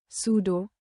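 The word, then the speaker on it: pseudo: उदाहरण psychology psychology, सूडो स्यूडो।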